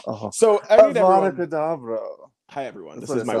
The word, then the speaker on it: Avada Kedavra: Avada Kedavra. Oh. So Avada Kedavra.